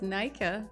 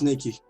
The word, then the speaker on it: Nikki: Because I thought it's Nika. I'm glad that I know how to pronounce it. She said it was Nikki.